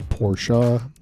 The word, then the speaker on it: Porsche: they uh they kind of know that it's porsha but i've heard porsche and porsche i've heard